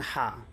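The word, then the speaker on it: حاء: করবেন আপনাকে দেখেন সাম জিম হা টা এখান থেকে বের হবে আপনার এই আপনার এই মানে হলক বা আমরা যে বলে থাকি গলা থেকে হা তারপরে খ ঠিক আছে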